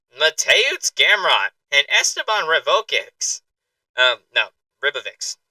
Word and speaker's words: Ribovics: Ribovics. That's how we pronounce that word.